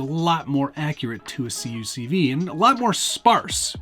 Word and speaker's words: CUCV: but here it is the cucv or cuck v as it's sometimes pronounced there's been a